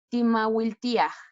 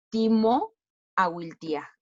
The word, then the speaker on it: timawiltía: Timawiltía, no es timo awiltía, sino se dice todo junto.